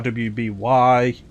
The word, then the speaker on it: RWBY: then there was uh rwby i think something i think it's called i think it's actually supposed to be pronounced ruby but i don't know because i don't watch it uh and like roost